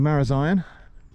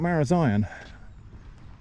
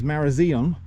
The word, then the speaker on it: Marazion: Uh, and Google's AI summary gas lit me, asserting quite strenuously that the pronunciation is Marazon and in fact linking to a web page where you could find the evidence of that.